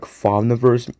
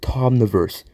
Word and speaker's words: Thomniverse: certainly not English and I would always say his name like wait no I mean what I mean he's certainly not English and turns out it's like Tomverse which makes me wonder